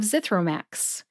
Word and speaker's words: Zithromax: of brand named drugs Zithromax has three syllables zith like the word myth row like you row a boat and Max which is short for maximum put all three syllables together and you get zithro Max which syllable do you